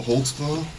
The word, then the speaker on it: Holtzclaw: I'll let your name there, because I don't even know how to spell it. How do you say your name? Daniel Holtzclaw.